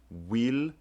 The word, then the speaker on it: Willielmum: but look at the way that William is spelled. Wil-yelmum. This G right here is serving as a y sound, which makes sense for how the name was pronounced.